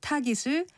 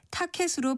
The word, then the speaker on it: 타깃: 이와 같은 현상은 외래어에서도 종종 볼 수 있는데요. 남유럽에 있는 나라 포르투갈을 포르투칼이라고 발음한다든지 쿠데타를 쿠테타로 그리고 타깃을 타켓으로 발음하려고 하는 이치와 같은데 모두 거센 소리로 발음하지 않는 것이 맞습니다.